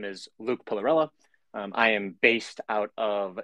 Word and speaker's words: Pillarella: And yeah, we go with more of the American pronunciation, but you did hit it right on the head. You can go with Luke Pillarella. Pretty much sounds how it spells, but Pillarella, love it.